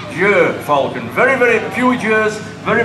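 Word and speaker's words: gyrfalcon: Some people see his name with a G-Y-R and they think it's pronounced Gaia falcon. Turn left. Thank you. Now I know why you've got an L plate. But he is pronounced Jer falcon.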